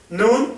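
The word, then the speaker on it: נ: sofit ambas son men m m nun y nun sofit son n n nun same es s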